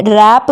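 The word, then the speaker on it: wrap: तो क्या क्या होगा रैप व ए व आर ए पी यहां पर आप देख सकते हैं हमने रैप में व को नहीं पढ़ा है क्योंकि यह साइलेंट है रैप मतलब अपना रोंग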